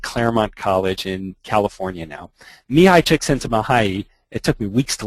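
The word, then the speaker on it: Mihaly Csikszentmihalyi: I'll give you five bucks if you can pronounce that he is a Hungarian professor at Claremont College in California now mihai checks into mahayi it took me weeks to learn to say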